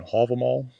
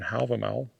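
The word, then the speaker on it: Hávamál: text called uh and reconstructed old Norse pronunciation halamal and in modern Icanic pronunciation Halval.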